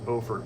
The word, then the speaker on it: Beaufort: There's a lady in Beaufort, North Carolina. That's how they pronounce it.